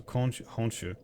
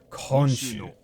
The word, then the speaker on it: 今週: 今週の、 Okay, so honshu. 今週の、 Honshu? 今週の土曜 Is 日、 it- 公園に行きませんか See, I fuck. Like the way that they sometimes pronounce it is so hard. Konshu. Konshu, not honshu.